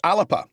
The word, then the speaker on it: Alba: How do you pronounce Alba? Well, you know, Donald Trump thought Alba made vintage radios in the UK. You know, it's a very strange thing. But I'm told it's Alapa.